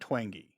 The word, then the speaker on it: Twenge: get her name wrong is it Gene twenge I've heard twangy okay but t-w-e-n-g-e so you can see where I went wrong but anyway and she